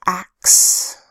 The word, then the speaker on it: axe: A that says ah, X that says x, and a silent final E to make the word look bigger.